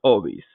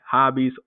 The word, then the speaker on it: hobbies: So you'll hear someone in conversation say something like, sí, yo tengo muchos hobbies, right? Hobbies, hobbies, because H in Spanish is silent.